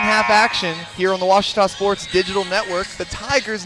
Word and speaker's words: Ouachita: Back in Texas, everybody pronounces it Wichita, but really, it's Ouachita. Ouachita. How would you pronounce it? Ouachita. It's Ouachita Baptist University. Get it right. It's Ouachita, people. It's Ouachita.